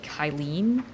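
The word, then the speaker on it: Cyllene: Maybe pronounce the C like a K. Like Kylen.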